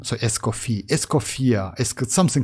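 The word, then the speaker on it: Escoffier: it looks like yeah you don't need to pronounce that last r in esophier like name so escofi escoia is something like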